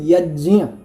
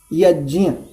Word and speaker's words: यज्ञ: देखिए, इसका जो आपने शब्द का उच्चारण किया, इसको शुद्ध बोलते यज्ञ, अनुनासिक वचन है यहाँ पर, यज्ञ।